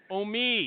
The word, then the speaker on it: Omeid: We've got Blake Warner, and I don't know how to pronounce the other name. Omeid, is that right? You guys can talk it's now. Omeid. Omeid.